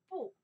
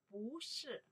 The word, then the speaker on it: 不: was negative No or not Remember how can pronounce? Sure 不 Or 不不 By itself only one character 不